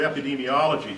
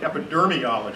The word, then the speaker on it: epidemiology: President of the Union never could pronounce the word epidemiology he always called it epidermiology it's actually quite funny